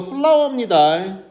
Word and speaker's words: flour: 마이크로누트리언트 미량 원소네, 엔타이옥사이던트네, 그자 파이버 섬유질이네가 매우 풍부하지만 예를 들어서 wholemeal flour나 flake 같이라고 나왔는데 발음이 이거 플라워입니다. FLOWR라고 발음이 똑같습니다.